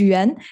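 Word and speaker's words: Yuan: Le my name is Yan if you can change the slide next one my name is Yen if you wonder how to pronounce my name if you ever been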